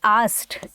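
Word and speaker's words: asked: अब हम टोल्ड नहीं लगाएंगे, अब हम लगाएंगे आस्क्ड। क्या लगाएंगे, आस्क्ड। अब कुछ बच्चों को उसको प्रोनाउंस करने में प्रॉब्लम होती है, आप लोग बोलते हो आस्क्ड, ऐसे नहीं बोलते, आस्क्ड बोलते हैं।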